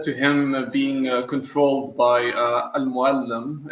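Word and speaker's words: Al Mualim: And that's how we say it. Okay. Al-Muallim. It's like, teacher, or like Al-Muallim. Yeah, it's the equivalent of sensei, mentor, basically. Did I say it correctly now? Al-Muallim? Yeah, you said it correctly.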